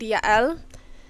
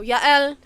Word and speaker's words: Yael: across a woman named Yael. It's often pronounced Jael. I just don't like the sound of it, so I'm going with the Hebrew pronunciation, because J's in the Hebrew are actually Y's. So Yael.